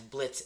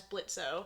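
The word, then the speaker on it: Blitzø: he introduces himself as Blitz the O is silent so people know who he is MH people would know him as blitzo yeah that's why like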